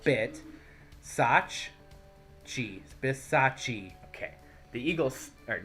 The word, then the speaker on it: Bisaccia: You said you learned how to pronounce it. How did that announcer say it? Let me think. Rick Bisaccia. Rick Bisaccia.